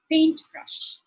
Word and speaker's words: paintbrush: So the stress would be on the first syllable, like paintbrush.